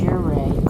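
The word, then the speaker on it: Ouray: I think it's either called Aur or Uray or something like that coming up. Do you know how to pronounce the name of that town? I think it's pronounced Uray, Colorado.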